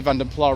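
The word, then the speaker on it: Vanden Plas: I say Vandenpla rather than any variation on that because that's what a lot of the original publicity used to say in the 1980s, although other pronunciations are equally valid, of course.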